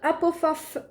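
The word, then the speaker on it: Hufflepuff: avec le petit poussoufle donc en anglais ça se prononce apofaf pour ceux qui le savent pas mais par contre dis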